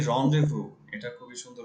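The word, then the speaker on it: rendezvous: হচ্ছে এ রন্ডেভু। এটা খুবই সুন্দর উচ্চারণ। এটা আমি বলতে যাচ্ছিলাম। এটা হচ্ছে এ রন্ডেভু ইন old Dhaka. Renders, রন্ডে রন renders. রন্ডেভু। এটা উচ্চারণটা ডিফারেন্ট, টোটালি ডিফারেন্ট।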